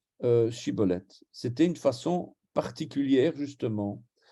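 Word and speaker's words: Shibboleth: Il lui disait « Alors, eh bien, dis Shiboleth ». Alors il disait Siboleth, parce qu'il avait un défaut sur la langue. Il ne savait pas prononcer Shiboleth.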